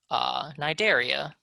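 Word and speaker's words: Cnidaria: start of nigeria is silent that's how you pronounce it nai dare e nidaria and these are your jellyfish and your c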